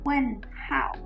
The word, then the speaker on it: 问号: You have to take note of the pinyin. This is H-O-U. 问候. This is H-A-O. 问号.